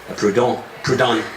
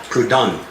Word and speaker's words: Proudhon: The founder of anarchism is Joseph Proudhon. That's how it's pronounced. I had to look it up in the dictionary to get the precise definition of or sound. Is Proudhon.